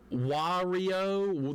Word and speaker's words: Wario: Technically, Wario, like Mario with a W.